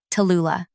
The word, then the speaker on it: Tula: Not Tally, not Lou, Tula. The full three syllables demand attention, much like I do.